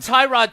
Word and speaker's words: Tyrod: Tyrod Taylor knows how we're supposed to say his name. Were you as talked to him? Yes. What did he say? He said either one is fine.